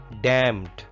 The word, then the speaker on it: damned: Damned. Damned. N is silent here.